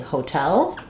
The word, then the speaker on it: hotel: um we have uh often when we have the T in the middle of words uh it's going to be a flap sound in English but in hotel the stress is on the second syllable so the T functions like a t at the start um so what I